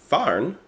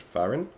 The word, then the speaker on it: fahren: we speak in German, fahren, I think that's how you pronounce it, fahren, which means driving, sounds like the English word fun.